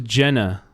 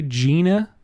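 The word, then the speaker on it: Jena: I thought it was Jenna. Gina. They pronounced J E N A Gina.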